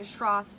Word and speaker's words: Schroth: um and I saw another file question two Schroth Schroth is spelt it's a German word SCH R o